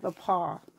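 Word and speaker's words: Le Pas: If you, and the paw is spelled T-H-E, the, and then paw, P-A-S. My community is originally French.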